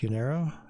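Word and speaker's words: Unyaro: I think it's pronounced Unarrow. Unayro. Yeah, there we go.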